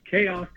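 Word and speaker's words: CAOC: Uh they have on that base something called the combined air operations center C AOC pronounced Koko.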